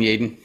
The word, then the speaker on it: Yeadon: i'm joined today with jaden smith yes it's pronounced jaden how you doing jayden i'm doing real well it's easy to